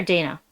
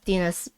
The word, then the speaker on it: Dina: Oh my gosh, is it Dina or Dana? Dina. It's Dina.